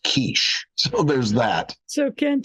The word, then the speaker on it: quiche: over and he said, I would love a quickie. And I thought she was going to slap him. And when she stormed off, I turned to Ken and I said, Ken, it's pronounced quiche.